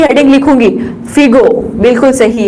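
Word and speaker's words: Fizeau: और कई बार इसको फिजो भी बोला जाता है। सही है आपका। हम क्या करते हैं कि हमारा प्रोनाउंसिएशन ही ऐसा है, इंडिया के लोगों का प्रोनाउंसिएशन ही ऐसा है, प्रोनाउंसिएशन ही हमारा ऐसा है कि हम जी को जी पढ़ लेते हैं, तो फिगो को आप फिजो भी पढ़ लेते हैं, कई बार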